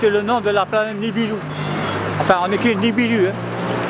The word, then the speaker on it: Nibiru: Je ne sais pas si dans l'astronomie on cite le nom de la planète Nibiru. Enfin, on écrit Nibiru. Hein. Nous, dans Thaïsien, le U se prononce OU.